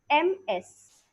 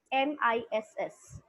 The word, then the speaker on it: Ms: Now, the second point is, let us understand the difference between MS, MRS, MISS. What is the difference? How do we pronounce them? MS stands for Ms, not Miss, Ms with Z.